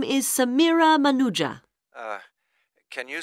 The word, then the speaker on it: Manuja: yes of course sorry my name is Samira manuja uh can you spell that please m a n u j a